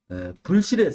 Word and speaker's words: 불실: 왜 부실로 읽지 않고 부실로 읽지 않느냐 하면은 부실은 우리 부실하다 그러잖아요. 부실하다. 그럼 부실하다 그러면 튼튼하지 못하다, 충실하지 못하다는 의미로 이해가 되지 사실이 아니란 그런 느낌이 안 드러나요. 그래서 불실이라고 읽습니다. 따라서 불실의 사실이란 허위사실, 다시